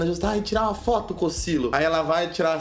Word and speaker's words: Cocielo: Primeira parte é que o pessoal pronuncia errado. Ao invés de falar Cocielo, o povo fala Cocielo.